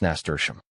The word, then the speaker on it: nasturtium: Tium, this rhymes with museum. So, if you put it all together, it sounds like nasturtium.